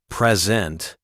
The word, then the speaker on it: present: You want to say present, a gift, but you stress the second syllable, making it sound like present to introduce. You say, I bought her a present. The listener asks for clarification, and you learn that the stress on the first syllable, present, means gift.